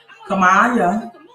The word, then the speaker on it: Kamala: JA says if Kamala, that is how you pronounce it.